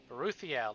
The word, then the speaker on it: Beruthiel: it at once twice before ruthiel that's how you pronounce it is that a lady like a good properly trained pet beruthiel responds as soon as